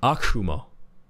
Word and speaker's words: Akuma: We call him Akuma, but it's actually pronounced Akuma.